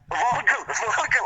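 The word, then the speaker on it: Völkl: And I want the proper pronunciation. Fisher. Ian Kelly. Voikel. I've been out of the game too long. Vocal, I should have known that.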